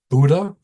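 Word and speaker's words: Bodø: Christina oscal she was in the town of Buddha that's how you pronounce it and it's spelled Bodo but Buddha way up the coast of Norway and one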